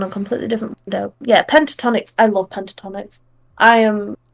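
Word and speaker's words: Pentatonix: Yeah, Pentatonics.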